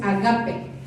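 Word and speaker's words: ἀγάπη: en el capítulo 5, la palabra es ágape y de hecho mejor pronunciado es agape.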